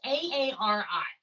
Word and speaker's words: Aari: So I saw this person on Instagram doing, I think it's pronounced Ari work. It's Aari.